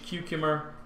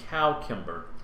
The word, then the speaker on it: cucumber: Spellings based on the Old French form led to a pronunciation of the first syllable as cow, which persisted until the early 19th century. So it used to be cowcumber. So now it's evolved into cucumber.